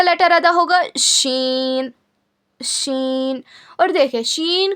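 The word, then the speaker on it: شين: Scene scene के बाद देखिए शीन शन शन का क्या मखरज है? ज़बान के बीच के हिस्से को ऊपर के तालों में लगाने से शीन अदा होता है।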